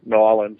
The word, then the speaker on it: New Orleans: But going there was a lot of fun to be in New Orleans, or New Orleans, as the locals say.